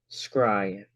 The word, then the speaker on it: scrying: Any reflective surface for scrying." So, this word scrying is spelled s c r y i n g.